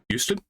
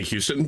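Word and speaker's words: Huston: it hust Danny hust Houston that's what I thought but it's h s t n it's not Houston Houston has an o in it the city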